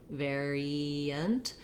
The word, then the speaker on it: variant: When I move from the E to the schwa, my E shape is a little bit more of a smiling sound, variant. We do end up sometimes with a little bit of a glide there.